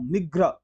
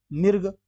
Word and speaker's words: मृग: उच्चारण पहले हो जाएगा, मिर्ग, लेकिन ये मिर्ग भी नहीं होता है। अब यहाँ पे ध्यान देने वाली बात यह है, मिर्ग भी नहीं होता है, ये मृग होता है, मौ में री की